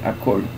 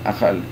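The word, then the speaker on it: אכול: rachitza, ciò si riferisce, questo si legge akol, non achal.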